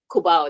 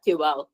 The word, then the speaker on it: Cuba: Kuba, not Cuba. You see? Yeah. Because they have a place here called Cuba. Then you put an O. So you pronounce it's Kuba. So it's not Cuba. It's Cub. Kuba in Philippines.